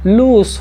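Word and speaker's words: loose: यहाँ पर ये लूज नहीं लूस होगा, लूस लूस लूज, I where लूज T shirt, मैंने ढीली ढाली टी शर्ट पहनी है, आई लूज लूज।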